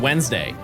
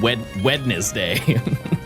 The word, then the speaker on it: Wednesday: Yeah, it's like Wednesday. Nobody's saying wed wedness day. That's way too many. Way too many syllables.